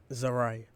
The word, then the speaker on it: Zaria: that the memory of Zaria. Let me pause the video. Oh, is it Zari? That's the white people pronunciation. Zaria.